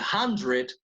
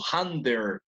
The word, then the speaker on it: hundred: Con el 100 he oído a mucha gente que pronuncia como hundred o algo así. Pero noten que el dread del final se pronuncia letra por letra. D-R-E-D. No there, sino dread.